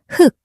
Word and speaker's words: 흙: When 흙, 닭, and 목 are spoken alone, you only pronounce one consonant, sounding like 흙, 닭, and 목.